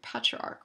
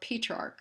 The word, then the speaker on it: Petrarch: that brings us to patriarch or petrarch there's some disagreement as to how to pronounce it but there's General consensus that uh this man who I call petrarch is the father of